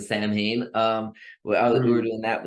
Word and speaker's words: Samhain: Carl Met because uh I was originally doing the salmon whereas most people pronounce the Samhain um we were doing